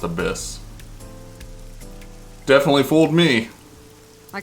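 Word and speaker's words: ABIS: Okay, so it's pronounced Abyss.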